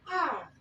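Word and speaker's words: hour: Example, an R. Now, this H is silent. It's not being pronounced. When I say an R, you're not hearing H. You're hearing O and R.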